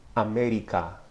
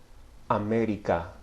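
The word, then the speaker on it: América: or contrast for example the English pronunciation of the word America America with a shorter crisper tensor vves in the Spanish America America try it with me America okay the vowels are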